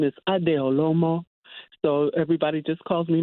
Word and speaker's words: Adeolomo: so much for having me I hope I'm pronouncing your name correctly yes it is yes my full name is adeolomo so everybody just calls me Ade okay